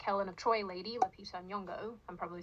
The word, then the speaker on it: Nyong'o: This black Helen of Troy lady, Lupita Nyong'o, I'm probably saying that wrong. I'm probably So, you literally said it right. It's Nyong'o.